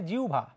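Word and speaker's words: জিহ্বা: হ এর উচ্চারণ হয় উ এর মত এর উচ্চারণ হয় ভয়ের মত কাহিনী কি যেমন দেখো আমরা যদি বলতাম পরীক্ষায় যদি আসে জিওভা অনেকে জিবলা টিবলা বলে এগুলা বলা যাবে না জিওবা টিউব্বা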